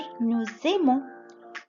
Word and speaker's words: nous aimons: لأنه الأس في liaison مع الفويل. verbe aimer ببلش في فويل، والأس تجور بتعمل liaison بتشبك مع الكلمة اللي بعدها اللي ببلش فويل، فبتصير nous aimons. نقرأها ز.